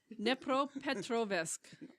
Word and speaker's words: Dnipropetrovsk: So, the Dnipropetrovsk, oh my god. Can we Google the pronunciation of that or something? It's Dnepropetrovsk.